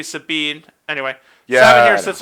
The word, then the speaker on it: Sabin: And you get to learn how the Savin Brothers, the Figaro Savin Brothers. The Savin Brothers. We are Savin Force 5. Savin Force rules. No. Rather, we're pronouncing it wrong. It's supposed to be Sabine.